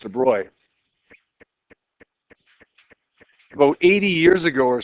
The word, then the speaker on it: de Broglie: a wave well de bro it looks like de brogly but it's pronounced de Bry about 80 years ago or so came up